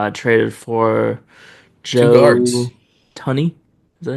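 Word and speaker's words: Thuney: And then, of course, the Bears traded for Two Joe guards, Tunney. Is that how you say it? Tooney, Joe Tooney.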